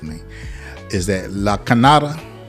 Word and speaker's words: Lachenyada: If I say this last name wrong, she's going to correct me. Is that Lachenyada? Lachenyada, yes.